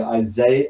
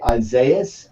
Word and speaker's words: Isaias: tried to pronounce i isaiah isaias i think it's called it's not isaiah no yeah oh something